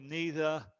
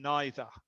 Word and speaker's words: neither: También esta palabra neither tiene dos tipos de pronunciación. Yo digo neither, pero hay otras personas que dicen neither. Es lo mismo palabra, neither, neither.